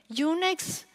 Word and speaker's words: UNEX: also Network operator themselves unex also Al intentionally rhymes with the uh Unix for two reason from